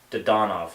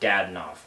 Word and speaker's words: Dadonov: Just a side note, it's pronounced, or said, however you want to call it, he's Evgeny Dadonov, not Dadonov. I hate that.